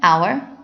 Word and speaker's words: hour: n is used of the H is silent not pronounced an hour and honor the article